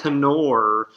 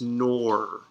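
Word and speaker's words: Knorr: to the no Corporation I pronounced your product canor which I have ask my mom because I think she's the one who started calling it canor and it's nor I do apologize for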